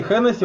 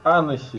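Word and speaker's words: Hennessey: Кстати, Хеннесси правильно читать Анесси.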